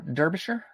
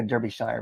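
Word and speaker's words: Derbyshire: I'm going to mispronounce Der Derbisher probably. I want to say Derby Shire, but I know that's wrong.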